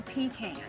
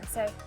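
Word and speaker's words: pecan: Mississippi and then Indiana do not say pean say pean pean thank you Mama will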